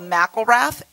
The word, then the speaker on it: McIlrath: called let's pronounce it it's called McIlrath it's got Irish told it goes with the face right so I am